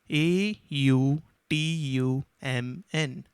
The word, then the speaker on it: autumn: for example this word a u t u m n is pronounced as autumn and you must have noticed that the letter n is not heard so we will say